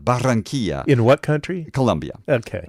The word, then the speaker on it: Barranquilla: pronounce. Barranquilla.